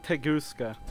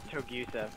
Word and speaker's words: Togusa: Is it Tegusa? Togusa. Togiza, got it.